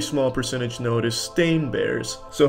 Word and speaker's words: Berenstain: It's always been Berenstain, not Berenstein. They all want to pronounce it Steen, but it's Stain. Ever since I was a kid, they call me Steen. It's Stain, though.